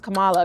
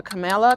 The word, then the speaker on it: Kamala: how do you pronounce Kamala Kamala Kamala Kamala camel really like how did we elect